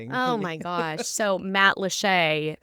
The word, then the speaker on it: Matlacha: at it on the map, it looks like Matlacha.